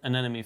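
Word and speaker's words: anemone: going to go ahead and get the clown an enemy fish by the way give me props in the comments for pronouncing that correct an enemy an enemy can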